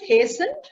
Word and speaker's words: hastened: Pronounce it hastened. Hastened. Yes. T is silent here, Anmol, right?